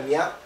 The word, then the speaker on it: niwt: Es una manera de decir que esta ciudad, este es el símbolo de ciudad, Newt, se pronuncia Niat, Newt, España, sería la pronunciación completa, significa que